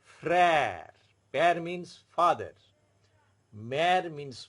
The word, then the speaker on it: frère: But whenever aksa grave is used on E, it becomes the more flattened pronunciation. Père, mère, frère.